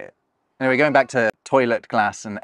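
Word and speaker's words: トイレ: I mean, you won't necessarily recognize them first off, because the Japanese pronunciations can be a little funky. See, toilet. Toilet.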